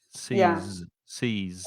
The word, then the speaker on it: seize: Seize. And no, both. I'm sorry. Let me start again. So seize with the Z, there is vibration.